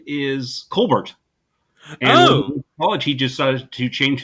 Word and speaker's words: Colbert: though because Steven colar his family name is Colbert College he decided to change his pronunciation to co bear and I remember on the Old Co bear